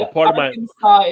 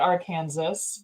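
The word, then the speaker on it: Arkansas: no Illinois Illinois and Aransas is not our Kansas but that's cool whatever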